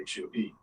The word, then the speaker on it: Hue: And I guess if you want to spell it H-U-E.